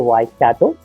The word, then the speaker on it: Waikato: And you pronounced it right, it's University of Waikato.